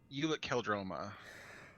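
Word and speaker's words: Ulic Qel-Droma: Ulic Keldroma. Oh my! That's the right. No, that's the right pronunciation for it, but no, that was actually pretty decent.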